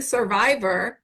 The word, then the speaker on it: Cervivor: Okay, so spell that for people because if some, we're saying survivor because it's like a double entendre, but it's not SUR, it's CER V, Vivor. okay, CER CERVIVOR dot org.